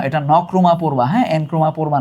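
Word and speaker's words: Nkrumah: এই এনক্রুমা না উচ্চারণ হচ্ছে নকরুমা।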